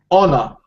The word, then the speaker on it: honor: So basically, what it is that honor. Just like honor or hour. Hour, yeah. Yeah, the H is silent, right?